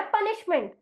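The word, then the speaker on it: punishment: में जाना हुआ है कि एस एच की जोड़ी जभी भी किसी शब्द में एक साथ आती है तब उसका उच्चारण हमें सह ना करते हुए श करना है और उसी को हमने जोड़ दिया मेंट तो इसीलिए हमारा शब्द बन गया पनिशमेंट अगर मैं मेंट हटा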